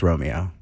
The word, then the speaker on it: Romeo: It's just Romeo. So Romeo.